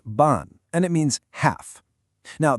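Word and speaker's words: 半: hun, which is pronounced ban, and it means half. Now, the pronunciation ends in an. So, we can use the same set, your home. But this time, it's what's called the fourth tone.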